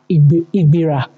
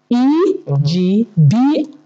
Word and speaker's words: Egbira: The correct spelling and pronunciation is Egbira, okay, which is spelled Egbira.